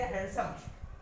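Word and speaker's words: handsome: हाँ, कुछ ऐसे भी एग्जाम्पल है जहाँ जो कि आप देख लीजिए कि यहाँ पे भी आपका डी साइलेंट होता है। जैसे हैंडसम, आप क्या पढ़ते हो? हैंडसम, हैंडसम नहीं पढ़ते हो, हैंडसम।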